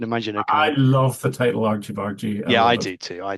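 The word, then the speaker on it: Argy Bargy: And I love uh some people not being able to pronounce it, calling it Argy Bari. Yeah, I've even I've even heard some um Americans calling it our guy bar guy.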